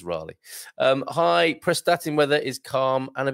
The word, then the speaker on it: Raleigh: I think it's Raleigh.